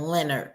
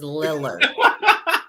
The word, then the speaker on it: Lillard: Daman Lillard Lillard okay I keep saying Leonard is Lillard I can never pronounce